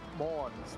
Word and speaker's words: Monours: Well done on the pronunciation of my last name. Uh Monours, not not not really one that people can get nailed down. Um on my high school